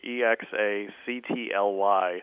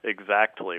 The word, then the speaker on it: exactly: My wife always ribs me for pronouncing the word E-X-A-C-T-L-Y exactly with pronunciation on the T. She says that it should be exactly.